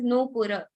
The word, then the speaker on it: Nupura: And in Sanskrit, if I pronounce your name perfectly, that is Nupura.